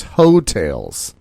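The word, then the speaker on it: Heaux Tales: because they need to hotels is spelled h e a u x space t-a-l-e-s hotels so it's not hotel or motel holiday that's and i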